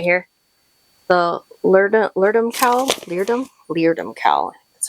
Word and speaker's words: Leerdam: Leerdam cowl.